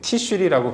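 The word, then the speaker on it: תשרי: 여기서 말하는 일곱째 달이라는 것은 히브리어로 티슈리라고 발음하는데 태양력으로 환산하면 9월, 10월을 의미하는 겁니다.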